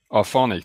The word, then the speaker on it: Auphonic: How do you pronounce it, by the way? It's not Auphonic for you, is it? It's Auphonic, that's okay.